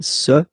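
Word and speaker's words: ces: And for the plural, se, se. Really open this, se.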